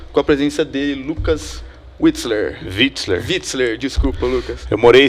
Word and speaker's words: Witzler: E hoje a gente conta com a presença dele, Lucas Witzler, desculpa, Lucas. Eu morei 6 anos na Alemanha, né? Aí, pô, W em alemão você pronuncia V, então tem que falar certo pra não errar.